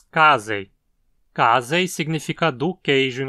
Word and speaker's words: casei: da espécie, Lactobacillus casei, que muitos pronunciavam como casei nos comerciais. Aqui a penúltima sílaba, z, não tem requisitos para levar o acento também, então dizemos casei.